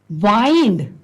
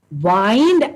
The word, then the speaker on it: wind: Wind and wind. There are two words. There's a difference of pronunciation only. Otherwise, both these words are spelled in the same way.